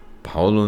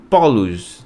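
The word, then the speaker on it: Παῦλος: conhecem como Paulo né Paulo não era o pelo menos a pronúncia não era assim tá Paulo era tá aqui ó Paulos tá polos ou fos não é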